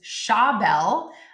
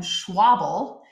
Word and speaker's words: Schabel: My friend Dan did it as well, because a lot of people will mispronounce his last name, which is Schabel. A lot of people will call him Schwabel, which is not correct.